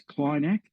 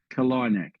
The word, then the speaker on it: Kalinack: Some pronounce it as Kleinack or even Kalinack, but tomato, tomato. I'll stick to traditional Cornish emphasis on the second syllable, Kalinack.